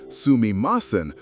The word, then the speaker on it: sumimasen: Pronounced sumimasen, with a soft u that's almost silent, it sounds versatile, polite, even charming.